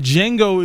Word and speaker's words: Django: your name he's like the D is silent and yes who he's talking to okay I was talking to the original Django Wow yeah I watched